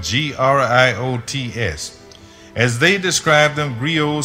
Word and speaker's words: griot: They told me about the existence of very old men who are called griots. It's spelled G-R-I-O-T-S.